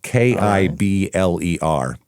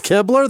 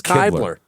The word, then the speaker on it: Kibler: looked it up and it says rhymes with rib, like Ribler.